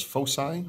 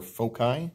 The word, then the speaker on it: foci: We're going to refer to those as foci or foci. Both of those pronunciations are correct, which is the plural of focus.